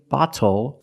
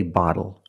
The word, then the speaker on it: bottle: f phonetically it is when you see tle e or ttle E phonetically the t is between vowels and for this reason the T changes to a fast D in American pronunciation that's why we do not say little we say little and we do not say bottle we say bottle so this is a